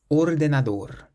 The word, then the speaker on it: ordenador: This next word ends in an R, so any word that doesn't end in a vowel, an S or an N, we stress the last syllable. Ordenador, ordenador, means computer.